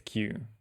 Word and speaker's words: queue: Let's hear out what the internet has to say. How do you pronounce this? Q. Okay. It is Q.